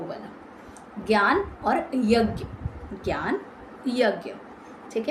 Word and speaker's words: ज्ञ: ज्ञ, इसको कहीं ना कहीं ज भी बोला जाता है ना। पुराने टाइम में जो हमारी पुराण वगैरह, उसमें कहीं ना कहीं इसकी प्रोनाउंसिएशन ज भी है, बट इसको ज्ञ के साउंड से बोला जाता है, जो कि कॉम्बिनेशन है ज और निय का।